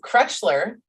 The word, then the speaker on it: Krechler: did great that's like my last name it's cretchler uh i always say crutchler but in um